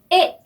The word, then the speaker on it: est: 에 자, 에스테가 다 발음하지 않았죠?